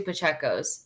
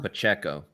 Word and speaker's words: Pacheco: that because I know I grew up with two pachecos and it was spelled just like that but we don't like pronouncing anybody's name correct so Pacheco Pacheco Pacheco Kelsey's back on the